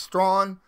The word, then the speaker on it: Strachan: is what it is it's strong it's like straw but with an n at the end of it so uh easy easy